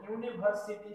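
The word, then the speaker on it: university: উদাহরণে আমরা উদাহরণ দেখলে বুঝতে পারবো যে হি ইজ, এখানে দেখো ইউনিভার্সিটি স্টুডেন্ট, এখানে ইউটা হচ্ছে ভাওয়েল, কিন্তু এই ভাওয়েল হওয়া সত্ত্বেও এর উচ্চারণ হচ্ছে কি ইউ এর মতো, ইউ।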